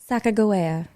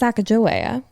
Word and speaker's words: Sacagawea: It is the famous Sacagawea. And if you're like, who? Commonly pronounced Sacagawea or Sacagawea, but I will be referring to her as Sacagawea for reasons I will explain in the next episode.